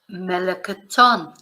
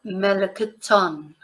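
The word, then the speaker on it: melón: peach the peach L melon notice where the accent is L melon so yeah again a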